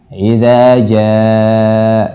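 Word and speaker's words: إذا جاء: Dan memang nanti ada variasi tertentu, tapi yang paling penting adalah usahakan kita istiqamah membacanya dengan panjang yang sama. Idza jaa, jangan sampai beda-beda panjangnya ya.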